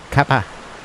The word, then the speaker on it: cuppa: And then we had the Kinks singing "Have a Cup of Tea," and cuppa is spelled C-U-P-P-A without an H. In parts further east than here, they call it kappa.